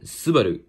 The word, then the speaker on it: Subaru: the suba subaru logo or uh as the japanese pronunciation subaru so yeah we can